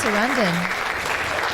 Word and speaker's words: Sarandon: I think it's Sarandon. Like Streisand. Been saying it wrong.